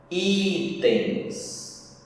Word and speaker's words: itens: Itens. O i é mais forte, paroxítona.